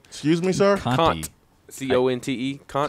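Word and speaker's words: Conte: Is that how you pronounce his last name? Excuse me, sir? Kant. C-O-N-T-E. Kant. Conti.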